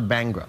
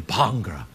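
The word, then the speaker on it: bhangra: bangra I just got into it recently it's pronounced bangra not bangra bangra I I've got an accent so but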